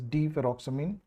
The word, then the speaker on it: deferoxamine: Now you must remember the chilating agent is here deseroxamine. We can pronounce it as deferoxamine.